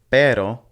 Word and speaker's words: pero: with these two words the first one is pero and it means but the second one is perro and it means dog so the way that you pronounce these is going to be key because they mean two completely different things even though they look